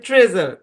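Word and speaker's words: treasure: হ্যাঁ তো যাই হোক এই শব্দের উচ্চারণ ট্রেজার এটক অংশের উচ্চারণ ট্রে আর এই অংশের উচ্চারণ জার আপনাদেরকে মনে হয় বলছিলাম যে ই এ এর সাউন্ড কিন্তু বেশ কয়েকটা ই হয় এ হয় এই হয় না তো এটা হচ্ছে এ এখানে এ সাউন্ড দেবে ট্রেজার এই শব্দের উচ্চারণ কি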